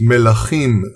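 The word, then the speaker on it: מלכים: Now, in truth, when you read the first chapter of Kings, pronounced melachim in Hebrew, which means kings in plural, or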